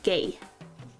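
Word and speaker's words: 芸: Start with the grass and this is arts or artistic skill, gay. I'm not just saying that art is gay. That's how it's pronounced.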